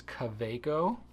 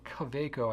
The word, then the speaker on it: Kaweco: So I believe the proper pronunciation is Kaweco, because it's a German company and W's are pronounced as, English V's. So Kaweco, I believe, is the correct pronunciation.